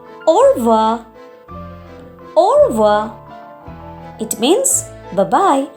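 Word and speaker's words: au revoir: R is not silent but it is little bit suppressed or little bit low or it is not or it is ora.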